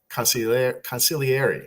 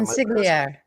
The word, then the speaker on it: consigliere: Michael Cohen, Trump's former consigliere, right? Is that Consigliere. There we go. Thank you. I didn't have the Italian accent wrong there. You can't pronounce the G.